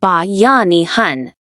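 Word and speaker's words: Bayanihan: The first most essential force is Bayanahan pronounced ba yanihan.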